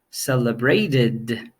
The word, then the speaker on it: celebrated: case of this ending verbs ending in T or D are the ones that use this type of pronunciation for example celebrate celebrated right start started so it